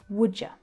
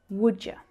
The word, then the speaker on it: would you: Would and you sounds like would ya, would ya. Can you hear that schwa sound at the end as well? Because you is the unstressed word, we reduce it down to the schwa.